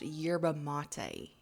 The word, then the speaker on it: yerba mate: yeah yeah yeah um it's pronounced yerba mate you idiot you is